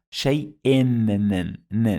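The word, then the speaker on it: شيءٍ: Two kasras, shay-in. It added the sound of nun.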